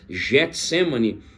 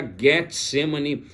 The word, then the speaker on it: Getsêmani: A pronúncia seria exatamente essa. Nós acabamos usando Getsemane, mas a pronúncia do grego seria Getsemane, pois seria a forma correta da pronúncia, tá bom?